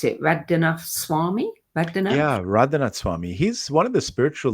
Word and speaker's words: Radhanath Swami: How do you pronounce it? Radhanath Swami? Radhanath? Yeah, Radhanath Swami.